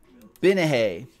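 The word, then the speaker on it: Gbinije: I don't think you pronounced the G in this one. Binahe.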